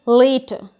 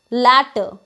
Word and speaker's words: later: The next word is later, but we say it as latter, which is entirely wrong.